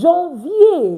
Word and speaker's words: janvier: I will say Janvier. Why? Because the pronunciation rules already tells us that AN is pronounced on. So that's why I'm going to say Janvier.